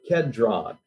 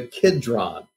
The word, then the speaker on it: Kidron: that he went forth with his disciples over the book said drawn or over the kedron the Kidron k-i-d-r-o-n is another way of pronouncing it and in that kid